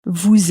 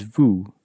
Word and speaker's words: vous: for pronunciation is that, in French, typically, the consonant at the end of a word won't be pronounced. And so the word for you in French is Vous, which is spelt V-O-U-S, and the S is not normally pronounced.